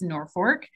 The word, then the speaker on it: Norfolk: Okay, our traditional way to say our name is Norfolk. And that is because we were settled on the North Fork of the Elkhorn River.